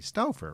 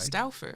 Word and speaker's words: Stauffer: And I think back then I was mispronouncing your last name. So if I'm doing it now, please correct me. Stuffer, right? Stafer.